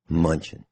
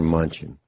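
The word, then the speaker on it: Mnuchin: is not headed for a recession says Steve munchin treasury secretary makes extraordinary claim in the middle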